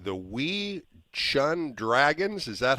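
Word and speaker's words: Wei Chuan Dragons: played i might be saying is wrong the wii shun dragons is that how i would say it is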